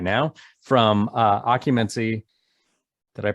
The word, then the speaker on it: Occumancy: cool heavy metal maniacs right now from uh occupancy did i pronounce that correctly you did excellent i am